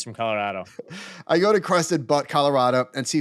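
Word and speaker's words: Crested Butte: do you pronounce that pretty sure it's crusted butt right crusted butt okay I go to it's spelled b tte it's ask Sean he's from Colorado I go to crested butt Colorado and see $5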